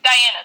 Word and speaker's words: Diana: do you mispronounce this diana there's only one way to pronounce it yeah it doesn't matter how you spell it it's the same way you say it yeah like they put